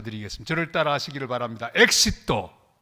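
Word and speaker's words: éxito: 단어 하나를 가르쳐 드리겠습니다 저를 따라 하시기를 바랍니다 엑시또 엑시또 발음이 좋습니다 이건 영어로 하면 엣지라고 마찬가지죠 출구란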